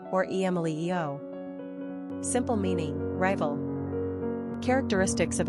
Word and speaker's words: Emilio: Quick facts on Emilio Gender, boy Origin, Italian Number of syllables, three Ranking popularity, 298 Pronunciation, emelio or emelio Simple meaning, rival Characteristics of Emilio Independent, philanthropy,